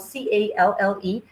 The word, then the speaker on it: calle: And then we also have calles, which is spelled Calle, and the calles go in twos.